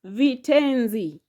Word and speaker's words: vitenzi: Next, vitenzi. Vitenzi. Vitenzi has got vi, te, nzi. Vi, te, nzi. How many are they? Those are 3 syllables.